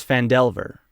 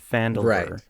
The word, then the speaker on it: Phandelver: I think that's because it's fand Delver fand Delver is the is the story name not fandel and so people say